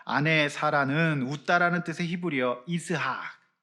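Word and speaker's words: יצחק: 아내 사라는 웃다라는 뜻의 히브리어 이스학. 이삭이 이제 히브리어 원래 발음은 이스학이에요.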